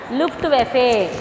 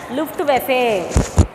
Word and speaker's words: Luftwaffe: What is the pronunciation, children? Luftwaffe. What was the pronunciation? Luftwaffe.